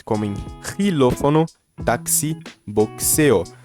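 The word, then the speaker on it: taxi: Aqui é táxi, som de KISS, KS, som de KS, táxi, ex-novia ou ex-novio, que é ex-namorado ou ex-namorada, né?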